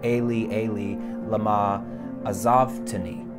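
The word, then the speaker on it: אֵלִי אֵלִי לָמָה עֲזַבְתָּנִי: is a translation of this Hebrew line in Psalm 22, which is pronounced Eli, Eli, lama azavtani.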